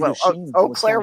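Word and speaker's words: Eau Claire: Oclair, Wisconsin is e au and it's pronounced o praeen means means a field of cats, doesn't it?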